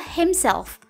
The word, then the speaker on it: himself: bahasa Inggrisnya dirinya sendiri untuk seorang laki-laki adalah hem self cara membacanya hem self dengan simbol pendek yang dibaca